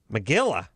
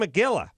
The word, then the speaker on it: Magilla: Magilla? Whose name Magilla? It rhymes with gorilla.